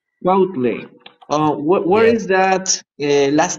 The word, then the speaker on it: Cuautle: Many people do not pronounce my last name very well. It's C-U-A-U-T-L-E, Quautle. Quautle.